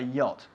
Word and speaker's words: yacht: a yacht a jet not a jot a yacht A yet a yacht that's who it is if